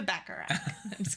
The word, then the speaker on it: baccarat: let's go back to Baccarat and it's so funny because I had to look it up how to pronounce baccarat because it's Bach like Johann Sebastian but then I was